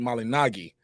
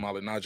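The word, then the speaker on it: Malignaggi: the proper way Paulie malinagi but I think he just accepted Paul and malignant I used to watch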